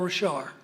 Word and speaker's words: Richard: And it's by a wonderful scholar named Paul Richard. And it's spelled Richard, but he's a Cajun, and he, like the French, leave off the last letter.